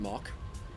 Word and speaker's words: Mach: I don't expect this to get to much higher than about mock 1.1 or 1.1 Mach is the proper way to say that.